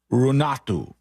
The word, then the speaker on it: Renate: I think this is how you're supposed to pronounce it. Now, the name is R-E-N-A-T-E, but the parentheses say R-U-H-N-A-A-T-H-U, Runatu.